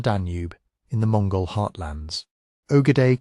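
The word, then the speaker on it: Ögedei: Ogade Khan pronounced Akad son and successor of Chingis Khan died in December 1241 in the political order of the empire that mattered immediately.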